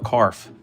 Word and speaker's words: CARF: Although your comic art fans thing, I call it CARF. Because it rhymes with barf and it makes me laugh.